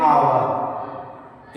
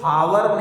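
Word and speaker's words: hour: ध्यान रखिएगा जैसे एग्जांपल में आपको दिखाया गया है एन आवर। इसको हावर नहीं कहिएगा। यहां एच साइलेंट है।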